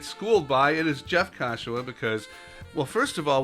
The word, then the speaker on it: Kashiwa: So ka and wa are the same. And the SHI in the middle is a shi, Kashiwa. Kashiwa. That's it. And there's no emphasis on any syllable, Kashiwa. Okay, so when you're saying, hi, this is Jeff Kashiwa. Okay, there you go. Yeah, it ends up sounding like Joshua with a K.